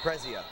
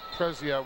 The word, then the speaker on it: Prezzia: Referee hits, how do you pronounce his name? Prezzia. Prezzia with a stalling warning.